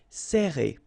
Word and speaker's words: serrer: All right, so interesting here because you get this E and then double R after that. So it will open the sound of E, okay, so you will pronounce it like E. Serrer.